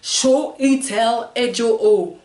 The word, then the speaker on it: Chiwetel Ejiofor: Chiwetel Ejiofor, alors le nom de l'acteur d'origine nigériane, né à Londres, Chiwetel Ejiofor peut être une bouchée pour certains, mais il est simplement prononcé Chiwetel Ejiofor, pour lequel en Igbo signifie Dieu apporte.